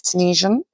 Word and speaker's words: Tunisian: Now, I'm 99% sure that's how you say it, is Tunisian.